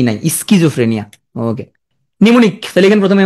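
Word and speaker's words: pneumonia: প থাকলে শুরুতে প্রথমে কিন্তু পি নাই স্কিজফ্রেনিয়া নিমনি প্রথমে উচ্চারণ হয় না নিমনি আসার কারণে তোমার আর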